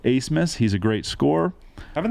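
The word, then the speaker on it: Abmas: that One Max acemus it's spelled a bmas but it's Ace Miss he's a great score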